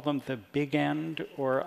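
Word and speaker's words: Bigend: the big end or I don't know how that's pronounced is it beon well I call the big end I call it Big end because I assume that most of the the characters in the books who are pronouncing it that way being unable to muster the the Franco Belgian pronunciation as indeed I am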